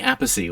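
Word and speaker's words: Appice: ronnie james dio and vinnie apocy or vineyard peace depending on how you want to pronounce it vinnie having replaced uh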